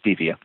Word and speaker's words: stevia: My first choice would be the natural sweetener that is generally mispronounced. It's been used for centuries, and it's supposed to be called stevia. Most people call it stevia.